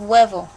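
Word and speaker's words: huevo: an H in them in Spanish you never ever ever ever ever ever ever pronounce the h maybe they might be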